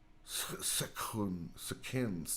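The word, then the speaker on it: Sekhen: oh this is different this is a k sound so it's not shin it was akins akin s-e-k-h-e-n but i was close i definitely ain't wrong i just pronounced it with not the k this is a k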